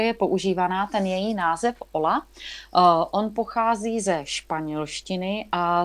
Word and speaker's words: olla: A vlastně takže jako správná výslovnost toho slova je oja. A my jsme si ale v tom světě permakultury se tady tenhle ten název ujal právě jako termín pro označování tady této technologie, této nádoby. Takže my jsme si to potom vzali i jako název, přijali jsme to prostě do češtiny, ale říkám, vyslovujeme to česky ola.